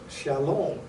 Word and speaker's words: shalom: And this is the word that is pronounced shalom, or peace, or completeness as we know it.